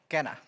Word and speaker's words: quena: Can you pronounce your instrument for me one time? Kenna.